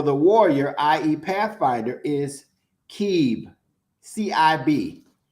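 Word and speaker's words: Cib: Pathfinder, is Keeb, C-I-B, Keeb, right?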